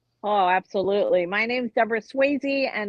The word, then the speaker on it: Sweazey: My name's Deborah Sweazey, and it looks funny the way it's spelled, but it's like Patrick Swayze.